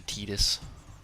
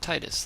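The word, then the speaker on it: Tidus: I think that's how they pronounce the TID is T. So Titus. Not Titus, like everyone else in the world would say.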